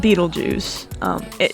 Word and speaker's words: Betelgeuse: my favorite star is i think it's pronounced betelgeuse people call it beetlejuice it's spelling is not